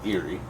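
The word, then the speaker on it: Eiry: It's E-I-R-Y. But it's pronounced like something spooky. Eerie.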